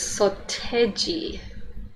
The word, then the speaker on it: Seo Taiji: so it's called so see this looks like so taiji but this is soteji so teji okay so they're just doing that phonetically okay um the english